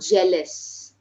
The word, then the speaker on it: jealous: monetary pronounce it clearly the word jealous so it is not g it is J jealous okay yes jealous then when